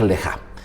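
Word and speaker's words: לְךָ: Son dos letras, lej, se lee de derecha a izquierda, lej, y luego la segunda palabra se escribe exactamente igual y se pronuncia leja.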